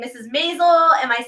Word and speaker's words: Maisel: Maisel.